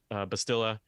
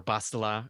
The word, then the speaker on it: Bastila: Apprentice is with uh B bastilla and or bastila or bastila whichever one you prefer there's a lot of pronunciations uh typical Legends uh